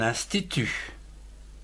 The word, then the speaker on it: institut: Ou encore un institut, I-N-S, ins, T-I-T-T-U-T, tu, institut.